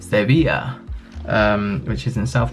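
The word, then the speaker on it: Sevilla: go to sevil or the Spanish pronounce it seia um which is in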